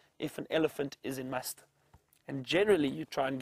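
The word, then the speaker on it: musth: The bulls, when they are in a stage known as must, which is spelt M-U-S-T-H, and it's apparently an Indian word.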